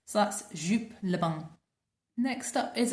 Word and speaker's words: Joop: So this is my only fragrance from Joop, if you're going to pronounce it in the British way, and it's called Le Bain.